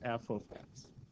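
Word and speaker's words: f(x): the way you pronounce this left side it's pronounced as f of x so this is how you say that it's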